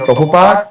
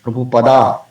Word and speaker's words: Prabhupada: Instead of Prabhupada, we say Prabhupada, or Prabhupada, or Prabhupada. So, Prabhupada is a Sanskrit word. It's an honorary title. So, it should be pronounced as Prabhupada.